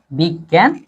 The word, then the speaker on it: বিজ্ঞান: এটা উচ্চারণ হবে বিগ গ, তারপরে জফলা ন, বিজ্ঞান।